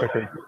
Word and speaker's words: Pickard: They had Calvin Picard. It's actually pronounced Pickard, but that's stupid. Oh, yeah, so Pickard.